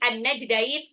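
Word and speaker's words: النجدين: Hadainahu, dainya ini adalah sifat lin, nunnya mat tabi'i, an-najdain, alif lam samsyah, alif lamnya nggak dibaca. Ya, karena langsung lebur ke nun tasdid di gunnah.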